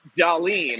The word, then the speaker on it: Dallin: She gets up her first point of the weekend, and since we're in Buffalo, Dallin is pronounced Dalin.